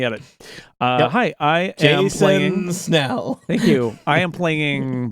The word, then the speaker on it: Snell: And last, but certainly not least, Jason Snell is how you say it, Jason.